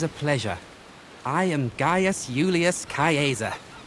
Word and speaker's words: Julius Caesar: might not be that Julius Caesar or Julius Caesar, as we pronounce it. Well, he didn't pronounce it that way because I'm terrible at these names.